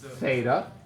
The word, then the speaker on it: theta: Theta. Theta. Right. Rhymes with beta.